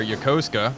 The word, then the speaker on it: Yokosuka: so well scoping out yokosuka or yokosuka as apparently is pronounced and japanese turned out to be